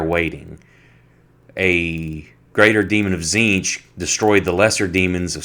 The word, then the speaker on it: Tzeentch: How's it pronounced? Tzeentch.